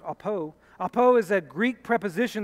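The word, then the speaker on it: ἀπό: line uses the letters Alpha Pi Omron it's pronounced APO APO is a Greek preposition that indicates a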